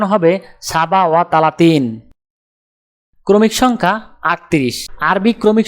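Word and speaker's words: سبعة وثلاثون: আরবি ক্রমিক সংখ্যা 37 দেখতে এরকম, উচ্চারণ হবে সাবা ওয়া তালাতিন। তাহলে 37 ক্রমিক সংখ্যাটির আরবি উচ্চারণ হবে সাবা ওয়া তালাতিন।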